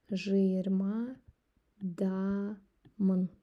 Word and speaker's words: жиырмадамын: Если быстро говорить, то есть как в жизни это звучит. Жиырмадамын. Если по буквам пишется вот так. Жиырмадамын. Говорим жиырмадамын. Как будто жиырмадамын. Как будто после ж сразу е.